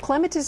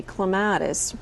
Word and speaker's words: clematis: way it goes is just because I grow on a lattice don't call me clematis Mr Webster as in Webster's Dictionary Mr Webster won't cease to hiss until you call me clematis so clematis is actually